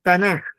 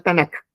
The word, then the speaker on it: Tanaj: Entonces, cuando uno junta la t y con la k de ketubín, eso se pronuncia tanaj con j al final, no con k, no tanac, sino tan eh bueno,